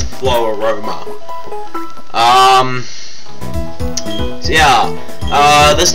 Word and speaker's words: Floaroma: it's FL Ro Roma it's like Aroma but it's like flow so it's flow Aroma um so yeah uh